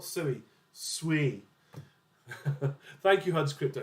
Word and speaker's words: Sui: Sui. Thank you, Huds Crypto. It does say on their paper, it's pronounced Sui, not Sui.